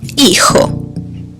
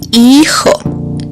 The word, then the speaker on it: hijo: Hijo. Again, the H is silent, just like in hola. Hijo. And J always sounds like ha ha ha.